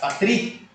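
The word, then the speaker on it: πατρί: tross patros patros Ok no dativo da mesma forma o é diante do aqui do iota fica Patri tá bom pateri e o i é acentuado é a sílaba tônica então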